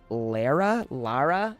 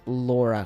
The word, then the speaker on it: Lara: be Lauraoft and then they changed it to Lara Lara Lara Lara how do you pronounce Let's Let's hear this cuz I think I've always heard it as Laura Croft.